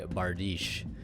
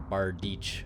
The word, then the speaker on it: Bardiche: the Phantom Knights of Rusty Bardiche, or Bardiche, however you want to pronounce it.